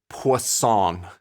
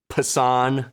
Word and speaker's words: Poisson: I guess pan. That is usually what I end up saying, pan. But I still feel like I know I'm doing it wrong, but I don't want to actually say it correctly.